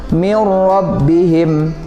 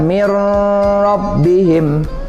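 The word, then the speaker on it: مِنْ رَبِّهِمْ: daripada idgham bilagunnah ingat bacanya tidak boleh didengung ya tidak boleh kita baca mirror bihim tidak seperti itu nah kemudian contoh yang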